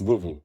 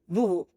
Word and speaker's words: Voovo: How do you pronounce? Vuvhu. Vhu.